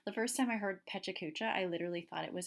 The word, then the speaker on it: Pecha Kucha: it is a little bit more it's again pronounced Pecha Kucha and it's a Japanese word for chit chat